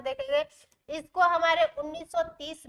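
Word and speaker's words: Holmes: ध्यान से देखेंगे इसको हमारे 1930 में आर्थर होम ने दिया था इनका नाम क्या था इनका नाम क्या था आर्थर होम आर्थर आर्थर हो ठीक है ये होब एल क्या है साइलेंट है तो इसको किसने दिया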